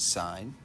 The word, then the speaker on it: sine: sine the abbreviation is it looks like sin but we pronounce it sine uh it is opposite